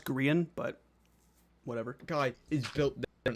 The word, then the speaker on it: Grian: even Gran isn't wetting himself and that it's pronounced green Gan but whatever guy is built also um how